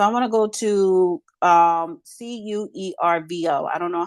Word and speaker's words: Cuervo: the website so I'm gonna go to um c-u-e-r-v-o I don't know how to pronounce that thank you thank you for giving